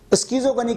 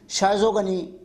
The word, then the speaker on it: schizogony: Human body में जो Plasmodium का साइकिल हो रहा है उसे कहा जाता है स्कीजोगनी, मगर कुछ लोग स्कीजोगनी की प्रोनाउंसिएशन शाइजोगनी भी करते हैं.